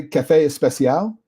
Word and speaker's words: café especial: Okay, so they say café especial, and by the way, that's a Spanish pronunciation of it. It's not a Portuguese pronunciation.